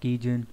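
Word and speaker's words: 基準: Đọc là Kijun.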